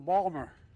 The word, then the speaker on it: Baltimore: By the way, folks, I say to my dad, Dad, they're mispronouncing Balmer.